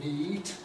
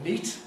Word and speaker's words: neat: We don't actually say neat, we say neat. That's the effect of the T.